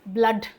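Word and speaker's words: blood: इसको क्या बोलते हैं? ब्लड। तो यहां पर प्रोनंसिएशन क्या हो गया? अ हो गया।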